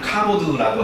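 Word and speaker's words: כָּבוֹד: 근데 똑같은 건 아니고 카보드. 그게 바로 그 히브리 말이에요. 히브리 말로 영광을 카보드라고 하고요. 네, 그리고 헬라 말로 영광을 진짜 독사라고 발음을 해요.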